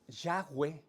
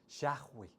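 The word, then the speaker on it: Yahvé: que motivo a reflexionar se dice que yagüe como se pronuncia se parece mucho a la manera cuando exhalamos inhalamos y exhalamos yagüe es como si como el sonido de cuando uno respira más o menos y hay versículos en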